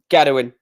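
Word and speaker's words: Gerwyn: I love saying it with the Welsh accent. Gedwin. That's how you say his name.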